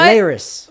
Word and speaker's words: Elehuris: Elehuris. But I'm still hearing it pronounced by everyone totally different ways.